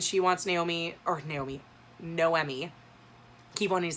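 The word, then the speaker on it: Noemí: to pronounce her name it's noemi i always i was pronouncing my head nomi but it's no emmy so this is a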